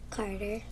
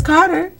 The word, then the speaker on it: Karter: want to tell her what's your first name Carter Carter and the reason why I wanted you